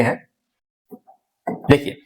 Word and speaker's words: हिंदू: देखिए फारसी लोग जो थे, सा को सिंधु को हा कहते हैं, मतलब ये सा को क्या बोलते थे, हा बोलते थे। सा का उच्चारण किससे करते थे, हा से करते थे। और इसीलिए इसको क्या बोले, सिंधु को बोल दिए, सिंधु को बोले हिंदू। अब बहुत सारे लोग ये